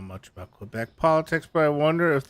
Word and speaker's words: Quebec: Do most Americans say Quebecos?